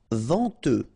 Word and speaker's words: venteux: Venteux. Final X not pronounced. Then E-N, en, venteux.